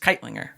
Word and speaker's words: Kightlinger: People just like fall apart if trying to spell my, because you don't pronounce the G. It's just Keitlinger.